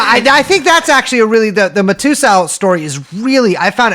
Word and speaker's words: Matusow: That's how you pronounce it? That's how I pronounce it. How My do you God, I've been pronounce it? calling him Harvey Matakow, but Matusow sounds actually like her name.